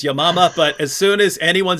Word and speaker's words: Yamama: Battle of I say yamama that she pronounced it correctly which is your mama but as soon as